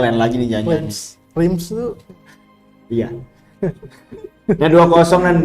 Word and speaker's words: Reims: Ini bacanya lain lagi nih jangan. Reims tuh Iya.